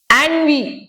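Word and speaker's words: ennui: ஆன்வி. Okay, ஆன்வி இது எப்படி வாசிக்கணும்னு பாருங்க. என்யூன்னு இருக்கா, ஆன்வின்னு வாசிக்கணுமா.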